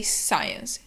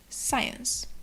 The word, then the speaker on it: science: word is science and what's important in this word pronunciation is that the c is not pronounced so we don't say